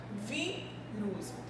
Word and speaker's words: vírus: A gente percebe que a palavra vírus, ela possui a sílaba tônica, que é logo no início, e que é a vogal I que vai ser acentuada, porque justamente a minha sílaba tônica é a que apresenta o som aberto.